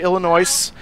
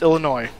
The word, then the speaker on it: Illinois: who do not know, Illinois is spelled with an S at the end, but it is not pronounced. Do yourself a favor. It will help you sound more intelligent. Do not say Illinois.